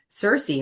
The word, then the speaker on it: Sirsy: My little sister called me Cersei, and we just spelled it phonetically.